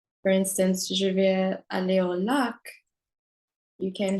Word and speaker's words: vais: Je vais manger au restaurant. So you know, je vais. Vais is V-A-I-S. The S is silent.